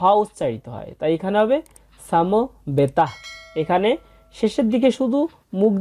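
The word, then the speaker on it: সমবেতাঃ: কুরুক ক্ষেত্রে এরপর আছে সাম বেতাহ এখানে আমরা দুইটা জিনিস খেয়াল করব প্রথম যে বর্ণটা আছে সেটা হচ্ছে দন্তস এই দন্তস এর সঠিক সংস্কৃত উচ্চারণ হচ্ছে ছ অক্ষরের মত সাম এবং শেষে একটা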